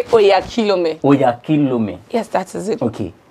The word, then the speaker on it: Oyakhilome: You see, the reason I try to escape it because you cannot pronounce it. Oh, you say Oyakhilome. Oyakhilome.